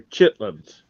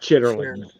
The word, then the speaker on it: chitterlings: another thing um and you do not pronounce all those word letters fish they're chitlins not chitterlings that's like we went